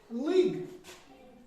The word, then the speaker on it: league: अच्छा, लीग, LEAGUE, इसको पे क्या पढ़ते हैं? लीग। क्या पढ़ते हैं? लीग, LEAGE, लीग। लेकिन यू की आवाज हम नहीं निकालते इसको, ये साइलेंट है।